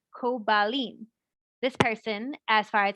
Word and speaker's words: Koblin: Her question is, the name is now Koblin with a B instead of a P, but the name is pronounced Kobalin.